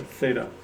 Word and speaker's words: theta: Pronounce that theta.